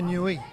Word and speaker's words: Niue: New or newi? Well, I've been given about five different pronunciations. New I think new is the pronunciation. We'll stick with new.